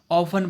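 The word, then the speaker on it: orphan: इसमें आ रहा है, ऑर्फन नहीं है। आर जो है इसमें ऑफन पढ़ेंगे, क्या पढ़ेंगे, ऑफन। आर जो है साइलेंट हो जाएगा तो एन, ही इज एन ऑफन।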